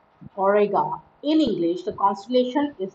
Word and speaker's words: Auriga: pencils and talls the constellation name orega is pronounced orega in english the constellation is known as chariot